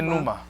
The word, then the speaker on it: pneuma: Say pneuma. On nous dit nous. Pneuma is spelled P-N-E-U.